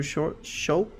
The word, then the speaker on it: Schulz: Have you seen you know who Andrew Schulz?